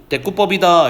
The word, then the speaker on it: 대구법: 그래서 이러한 상황을 우리는 대꾸법이다 이렇게 부르고요. 여기 이제 대구법이라면 안 되는 거 배우셨죠, 그렇죠? 여기 이제 둘 다 한자어라서 여기 사이시옷이 있는 건데 생략해야 되는 거예요, 그렇죠? 쓸 수는 없어요. 발음은 하셔야 돼요.